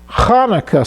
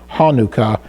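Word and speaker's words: Chanukah: So the CH is the more Hebraic way. The one with an H is probably to accommodate English-speaking people. So the Hanukkah sound is the actual Hebrew, the correct Hebrew pronunciation, where Hanukkah is more of an English, easy for English-speaking people to pronounce.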